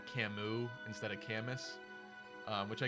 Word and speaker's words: Camus: And it made more sense for it to be Camus because then we got Sirius. Like, you wouldn't pronounce Sirius Siriu if it's also Camus. It just doesn't.